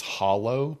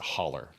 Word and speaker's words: hollow: The actual word is hollow, but we pronounce it holler.